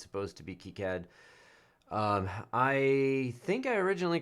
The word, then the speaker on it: KiCad: Incidentally, it's supposed to be pronounced KiCad, right? As far as anybody can tell, it's French originally, and it's supposed to be KiCad.